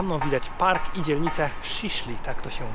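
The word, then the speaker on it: Şişli: mega górzysty Za mną widać Park i dzielnicę sisli tak to się wymawia taka dość bogata luksusowa dzielnica w Stambule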